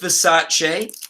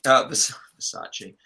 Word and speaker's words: Versace: So no, you actually pronounced it right. That's how it's supposed to be pronounced. Oh, is it? It's us Americans that ruin everything. I saw something where Donatella Versace was asked what's the most annoying mispronunciation she's ever heard, and she said Versace instead of Versace.